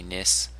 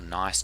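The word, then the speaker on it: gneiss: This would be nis, or nice, depending on your pronunciation.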